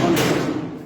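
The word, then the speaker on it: honest: vowel থাকে যদি ওই এইচ এর উচ্চারণ না হয়ে পরবর্তী ভাওয়েলের উপর চাপ পড়ে তখন তখন তার এন বসবে যেমন এন অনেস্ট যেমন এন অনেস্ট এরপর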